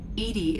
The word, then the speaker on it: EDI: are you named edie edie is the phonetic pronunciation of edi that is an acronym for enhanced defense intelligence where are you my